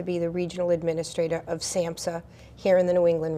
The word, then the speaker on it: SAMHSA: But now, Kathryn, you are the regional administrator, again, of SAMHSA. Am I saying that correctly? You are saying it correctly.